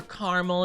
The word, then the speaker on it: caramel: Bit of chocolate, maybe peanut butter, maybe maybe caramel depending or caramel if you prefer to pronounce it like that.